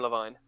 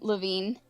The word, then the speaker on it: Levine: Like Adam Levine. It is spelled Levvine. Okay, then it is Adam Levine.